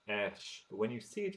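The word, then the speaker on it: ř: The actual letter itself is pronounced ersh, but when you see it in a word, it's It is not r.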